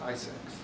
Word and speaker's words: ISAC: And one of those measures that they recommended was the creation of industry sector organizations called Information Sharing and Analysis Centers, ISAC, pronounced ISACs.